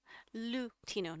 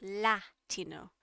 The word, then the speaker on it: Lutino: But that's not how you say it. Can you put the multiple option on screen next time? Oh, brother. Sure. But no, how you spell this, chat, is this. Lutino, not Latino. Lutino.